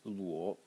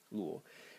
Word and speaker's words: 裸: Second character in the series, pronounced luo, luo.